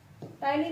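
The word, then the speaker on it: ptyalin: ठीक है, टाइलिन enzyme होता है। स्पेलिंग में इसके पी साइलेंट होता है, इंग्लिश में लिखते हैं हम पटाइलिन।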